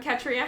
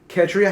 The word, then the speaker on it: Ketria: we have hi i'm katria ketria she says that you uh pronounce her name like katrina without the n still on the fence